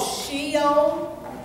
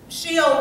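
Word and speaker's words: Sheol: times it was called shio and I I think that's spelled s h e o u l Maybe she'll hate it we know Hades okay but shio or shio was the place of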